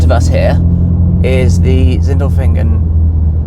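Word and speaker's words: Sindelfingen: In front of us here is the Zindlefingen. That's probably not how you pronounce it. Yeah. No, that was good.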